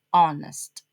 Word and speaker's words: honest: Honest emotionally honest. Honest don't pronounce the H.